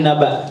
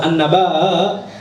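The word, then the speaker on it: النبأ: Sehingga nanti cara bacanya gimana? Suratun Naba. Bukan surat An-Naba, gitu ya. Beda artinya nanti. An-Naba dengan An-Naba. Jadi ada ngedennya dikit.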